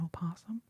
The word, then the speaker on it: opossum: But if the vowel is silent, I have a possum. I have N possum. I have an opossum.